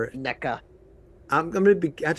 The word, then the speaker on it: NECA: Or NECA.